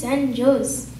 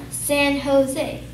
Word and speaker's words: San Jose: right my dad said oh so this is San Jose it's very quickly corrected no it's pronounced as San Jose my dad thought this is what you kiss